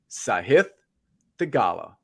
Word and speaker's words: Sahith Theegala: His name is Sahith Theegala.